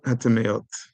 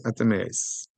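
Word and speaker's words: טמאות: Shalosh klipot hatameot. Or in my pronunciation, shalosh klipos hatameos. That's how us Ashkenazim pronounce it.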